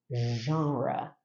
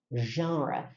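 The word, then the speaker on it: genre: literary genra essa palavra é tão linda né jra jra sabia que a única palavra na língua inglesa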